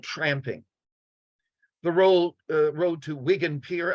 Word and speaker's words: Wigan: The road to Wigan Pier, I've also heard it pronounced Wigan Pier. I'm going to go with Wigan, but I've heard Wigan as well, is initially a study